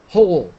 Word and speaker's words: whole: pronunciation in this word whole the W is silent hle hle climates climates find